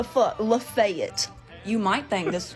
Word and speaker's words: Lafayette: no it's goddamn lebanon oh you know lafayette nope that's not right it's lafayette what the lafayette you might think this